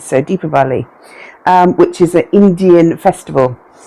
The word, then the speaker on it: Deepavali: I don't know how you pronounce it, but I asked my local friends and they said Deepavali. So Deepavali, which is an Indian festival.